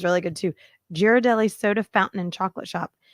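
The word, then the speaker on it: Ghirardelli: we've had this conversation I believe it's giradelli okay like a gear not Jer like Derek jer no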